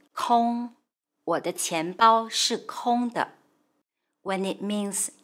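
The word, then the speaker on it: 空: a role kong when it means empty it's pronounced kong or the when it means air or sky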